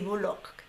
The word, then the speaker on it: Bullock: Sandra Bullock se pronuncia así, Bullock.